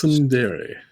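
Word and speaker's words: tsundere: Is it is it sundere sundere? I think it's sundere with a with a silent t.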